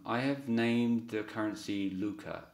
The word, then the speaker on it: Luca: fluidity currency um I have named the currency Luca l u Ka reason being it's a two- syllable word that can be pronounced in most